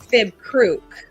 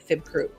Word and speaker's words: Fibekruk: The Bone Trader, known as Fib Kruk, and that's spelled Fibekruk, Fib Kruk, has been stealing our children.